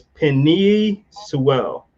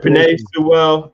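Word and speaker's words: Penei Sewell: So it's Penny Sewell from Oregon, if I say it right. Pinay Sewell. Yeah. Panay. Sorry, Panay. All right, Panay Sewell.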